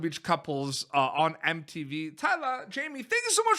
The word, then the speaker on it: Thailah: on Instagram keep update with everything so mine's Tyler underscore tea spelled like Thailand so it's a little bit free